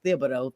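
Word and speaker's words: Thibodeau: You brought up um Tom Thibido. Um I always want to not pronounce the H. It is Thibido.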